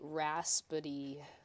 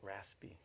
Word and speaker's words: raspy: The sexy, raspity voice. Raspity. Voice. Isn't that how you say it? Raspy. Raspy. There's no itty in it.